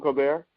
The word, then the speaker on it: Colbert: It's like Colbert. He said his name, Stephen Colbert, the Colbert Report. Remember that? He said he pronounced his name Colbert.